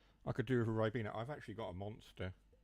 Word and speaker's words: Ribena: A Ribena, that's how you say it.